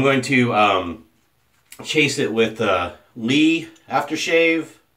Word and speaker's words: LEA: And I'm going to chase it with LEA aftershave. I say LEA because it's spelled like my last name. I don't care if it's Lee or Leah. It's LEA in my book, which is from Spain.